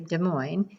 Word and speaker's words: Des Moines: Pronounced exactly like the Midwestern city Des Moines, it is named after the French word for monks, moines, a nod to early religious explorers and settlers. Des Moines sits in the shadow of the Raton-Clayton volcanic field.